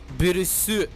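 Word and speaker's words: Beerus: With Bills, it's less clear due to the translation. As in Japan, his name is written and pronounced as Birus.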